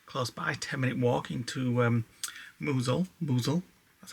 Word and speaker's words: Mousehole: Tomorrow we are going to go into the town close by, 10-minute walk into Mousehole, that's how you say it, and just explore and see what it's like down there.